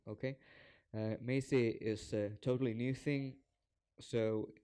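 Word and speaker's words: Macie: summit so Amazon Maisie Maisie it's supposed to be pronounced like amazing okay may say is totally new thing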